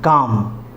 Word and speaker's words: calm: उसके बाद है काम, CALM, काम, जिसका मतलब होता है शांत। तो यहाँ पर भी एल साइलेंट है।